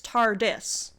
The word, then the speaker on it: TARDIS: But TARDIS, like time and relative dimension in space, TARDIS. Of course, I don't say it like with the emphasis on the dis, but...